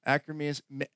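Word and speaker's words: Akkermansia: Anyways, acromancia, that's how you say it, associated with obesity and diabetes virtually disappeared.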